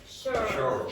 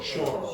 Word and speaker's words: shore: How do you pronounce that? Sure. Shore.